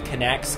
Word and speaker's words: Kinect: It says that it is enhanced with Kinects.